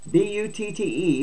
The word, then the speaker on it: Butte: Counties with small populations, including Inyo, I-N-Y-O, Inyo, B-U-T-T-E, Butte, Mendocino, and T-U-O-L-U-M-N-E, I can't pronounce that, Tuolumne, would be exempt until 2027.